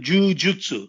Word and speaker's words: jiu-jitsu: Então, a pronúncia correta é entre Ju e Jiu, né? Jiu-jitsu.